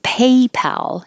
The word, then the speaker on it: PayPal: drink dr pepper and paypal is the same a in paper but the pal you need to keep your lips back pat and open a lot if you don't it'll